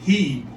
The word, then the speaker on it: Hieb: by the name of he i think is the way you pronounce his last name mike and he uh